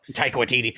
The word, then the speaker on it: Taika Waititi: Taika Waititi, yeah, they fucking handcuffed their God, directors.